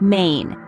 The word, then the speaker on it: mein: Next, we have I that sounds like the English I again, but is found in words like main.